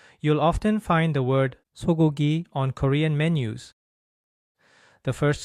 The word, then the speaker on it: 소고기: often find the word 소고기 on Korean menus. The first sound in 소고기 is similar to the English S sound, but the Korean S is pronounced much more softly than the English S.